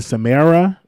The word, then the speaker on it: Samara: be uh i think a samara samara's bad side that's how you pronounce her name um so nobody wants